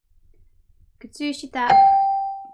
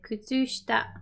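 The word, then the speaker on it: 靴下: Kutsushita. Kutsushita. You can even drop that extra I there. You can say kutsushita.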